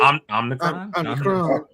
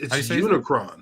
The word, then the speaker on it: Unicron: Omnicron. No. Is that how you say his name? No, it's Unicron. Unicron.